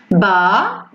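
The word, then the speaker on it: bas: Ba. On ne prononce pas le S.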